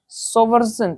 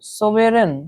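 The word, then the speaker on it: sovereign: सोवर्जन, सोवेरन, ठीक है। अभी साइलेंट रहता है इसमें, ये जो जी है वो साइलेंट रहेगा, इसको पढ़ेंगे हम लोग सावरन, ठीक है, सॉवरन, ऐसे पढ़ेंगे इसको।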